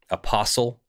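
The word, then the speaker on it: apostille: document in a process called a post eel a POS TI ll e apostle is another way it's pronounced and what it does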